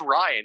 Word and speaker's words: Rian: That has to It's just Ryan. What are you talking about? His name's Ryan Johnson.